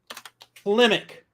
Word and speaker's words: Klimek: Klimick. It's spelled Klimek.